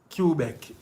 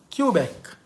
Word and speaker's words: Quebec: Yeah, man, it's pronounced Quebec. Okay. Quebec.